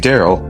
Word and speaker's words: Daryl: And the name Daryl rhymes with the word barrel.